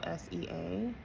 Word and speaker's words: Hosea: Hosea, I think I pronounced that correctly. It's Hosea.